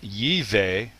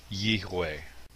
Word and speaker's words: יהוה: So rather than Yihweh, it would be Yehweh.